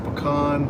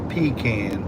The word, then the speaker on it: pecan: earlier pan pan yeah it's it's pan you want to go eat a pecan pie not a peacan pie johnnny says we